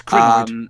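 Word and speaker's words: Krynoid: It's Crinoid.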